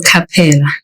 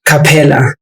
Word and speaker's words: Kapela: It's Kapela. Kapela. So without the H. Yeah, there's no H.